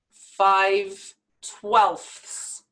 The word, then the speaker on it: twelfths: may be letter combination we have to pronounce the f sound the th sound and the s sound all together very quickly so this is what